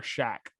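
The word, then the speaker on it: Shough: looks like tyler shoe i think his name's like tyler shack i'm pretty sure that's how you pronounce his last name s-h-o-u-g-h this shack or something like that that doesn't sit right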